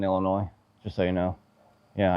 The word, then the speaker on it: Illinois: But the S is silent in Illinois, just so you know.